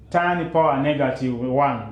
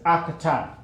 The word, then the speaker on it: arctan: So but you don't pronounce it as tan power -1. We normally pronounce it as arctan. So you say Z equals arctan of 5/12.